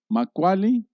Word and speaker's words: Macualli: Es una palabra muy hermosa y dice, y se escribe así, Macaulay, doble L, se pronuncia como doble L, tonali, que se traduce